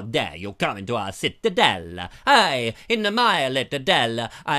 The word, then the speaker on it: Ciutadella: Mark Taylor says it looked like the Citadel in Menorca, pronounced Ciutadella.